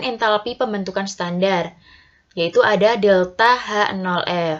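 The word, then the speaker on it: ΔH°: yaitu delta H 0 ingat ya bahwa membacanya yaitu delta H 0 Bukan delta H derajat F Hai untuk perubahan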